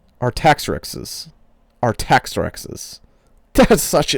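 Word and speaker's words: Artaxerxes: How do you say that X after an R? Let me spell it for you. R A R T A X E R X are I'm going to say our tax X's. Our tax rexes.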